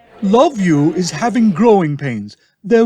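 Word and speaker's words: LOVVU: villains and under ghouls their abbreviation is l-o-v-v-u pronounced love you they are made up of the former members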